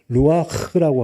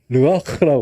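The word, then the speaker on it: רוּחַ: 루아흐라고 하는 영이에요. 성령을 말할 때 성령님 이렇게 얘기할 때 루아흐라고 얘기하고 그냥 영이라고 얘기해도 르하흐라고 얘기하고 바람으로 얘기할 때도 뭐라고요? 여러분이 발음해 보세요. 르아흐라고 그래요.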